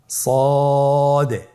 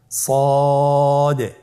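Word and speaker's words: ص: তাহলে আপনারা জিহ্বার আগা, সামনের নিচের 2 দাঁতের পেট ও আগার সঙ্গে লাগিয়ে উচ্চারণ করুন সদে। আবার বলুন সদে।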